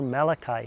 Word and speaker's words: Malachi: book of Malachi, or Malachi as it's pronounced in English.